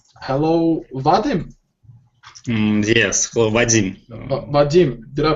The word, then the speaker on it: Vadim: Vadim, did I pronounce? Vadim, да.